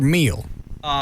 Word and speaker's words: Hmiel: Is it Neal or Meal? His name is spelled Hmiel, and it's pronounced meal as in dinner.